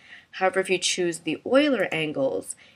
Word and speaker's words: Euler: And you have the choice between Quaternion and I believe you pronounce it Euler Angles. It looks like it's Euler, but I think the correct pronunciation is Euler.